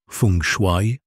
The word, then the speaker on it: Feng Shui: Dans le domaine du Feng Shui, prononcé Feng Shui, la porte principale est considérez le portail à travers lequel les opportunités circulent.